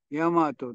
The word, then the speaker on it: 日本: は日ノ本これをヤマトと言うと書いたみなしも皆これにならへとだから全部日本と書いてあったらヤマトとだから大山と